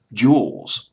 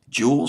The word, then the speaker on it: Juelz: to these websites that'll show you how to pronounce this person's name juwels juwels Santana j u e LC Santana with oh